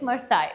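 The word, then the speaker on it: Marseillaise: The spelling is Marcellus, but when we pronounce it, we call it Marseille, okay?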